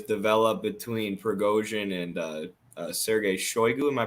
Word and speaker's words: Shoigu: It seems like a sort of rivalry has developed between Prigozhin and Sergei Shoigu. Am I pronouncing his name right?